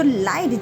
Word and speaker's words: light: So light g h comes after the vowel i. So here g h is a silent letter.